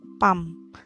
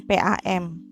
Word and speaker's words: PAM: Kenapa masuknya ke akronim karena cara bacanya menjadi sebuah kata yang baru fam bukan pump seperti itu kemudian untuk kalau yang